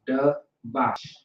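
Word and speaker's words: דבש: the ba, and then you got the sh. All right. So the does by itself, the ba and the sh are connected. That's why the a drops off from the sh.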